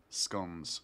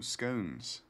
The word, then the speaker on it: scone: have like buttered toast scon oo scones scon abscond they're good which I think do Americans call scones scones biscuits I always just bounce between both pronunciations of um scon scones because then I don't